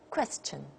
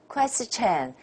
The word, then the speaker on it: question: thousands thousands next question question a lot of people say Christian Christ a Chan and that's Chinese it's not English question question what level